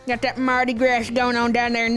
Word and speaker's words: Mardi Gras: Most people have pronounced it grass before. Mardi Gras. Got that Mardi Gras going on down there in New Orleans.